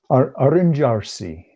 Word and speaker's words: arrangiarsi: somebody advised you, and I know I'm not pronouncing it right, Arrangiarsi. Why don't you explain people what Arrangiarsi is? Arrangiarsi.